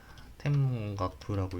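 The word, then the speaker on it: 天文学: 그 다음에 마타와 소레라노 그것들을 켄큐 칸소쿠스루 가꾸먼 연구 관측하는 학문 텐문가쿠는 아니었던 것 같은데 텐분가쿠였던 것 같은데 아니네 텐문가쿠네 죄송합니다. 제가 일본어를 못해서 텐문가쿠라고 읽네요.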